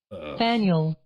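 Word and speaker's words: Faneuil: Got an American pronunciation video? Alright, let's take a look here. What do you got? Faniel. Faniel? Faniel.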